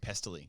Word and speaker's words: Pestily: Okay, so then I'm on Twitch a week ago, and this guy, Pentily, is that how you say his name? Yeah, Pestily.